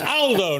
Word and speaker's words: Aldo: picked me up but it's Aldo not older Aldo's a very British pronunciation in Italian uh good to see